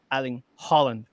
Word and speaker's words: Erling Haaland: By the way, Erling Haaland, right? Erling Erling Holland. There you go. The two A's means O.